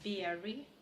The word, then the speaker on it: very: If you do very well, следите за произношением. Very. И потом уже W. Well. Да, на звуке W нужно губы делать, как на русское. А вот на very не нужно никаких very делать, потому что иначе получится изношенный вместо очень.